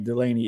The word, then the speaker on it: Delane: Delane.